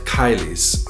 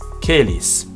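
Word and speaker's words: caelis: example from the prayer paternoster is the word kailis meaning heaven and in kailis the ae is pronounced i as in kaisar it's a diphthong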